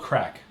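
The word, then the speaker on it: craic: one word for that it's called crack MH and it's spelled c r a i c and it it's just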